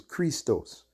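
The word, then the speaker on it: Χριστός: to be Christ because the correct pronunciation in the Greek was Christos eus Christos but the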